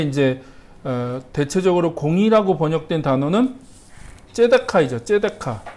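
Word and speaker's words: צדקה: 발음이 여러 가지로 이제 뭐 츠다카냐, 째다카냐, 뭐 발음이 여러 가지인데 그건 남성형이냐, 여성형이냐, 뭐 이렇게 그 변이에 따라서 이제 발음이 달라지는 거라고 생각하시면 되고 보통은 이제 째다카라고 이제 발음을 하는데 그게 이제 공의입니다.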